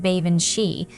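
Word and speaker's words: baobhan sith: Beaobin Sith. He pronounced it like Ban Shei. And that reminded me of the name Banshee.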